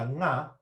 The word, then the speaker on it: ngā: from, back in Tauranga, we can put a little vowel in front of that, a ngā peke, a ngā peke. Now, when we do that, we're putting the ngā in the middle of a word now, just like words like singing, bringing. It's the same principle, right? We get a little bit of breath, we get a little bit of sound out before we try and attack that vowel, that letter, sorry.